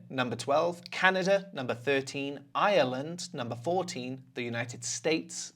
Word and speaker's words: Ireland: Ireland. Ireland. Okay, not island.